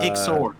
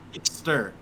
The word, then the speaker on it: Ixter: No, not Ixor. Ixter. Oh. Like stir.